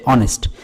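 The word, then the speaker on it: honest: আপনি অনেক সময় দেখবেন আমরা সৎ যে বাংলা শব্দটা, এটার ইংলিশ হচ্ছে অনেস্ট, এখানে কিন্তু এইচ উচ্চারণ হচ্ছে না।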